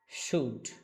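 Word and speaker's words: should: সুড। সবাই একটু উচ্চারণ করার ট্রাই করেন আমার সাথে। ট্রাই to pronounce with me. সুডশুড। সুড এখানে মাঝখানে এল আছে। এল এর কোন উচ্চারণ নাই।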